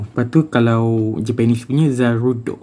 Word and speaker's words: Zarude: Pokemon Zaru tu ataupun nama Japanese dia Zarudo. Dia setakat ejaan dia dia lainkan sikit aje macam English Zarud. Z A r u d e. Zarud macam rot yang kasar tu kan orang ajar tu.